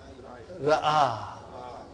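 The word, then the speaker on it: رأى: When this is ya, but if I don't put dots there, then it is pronounced as a.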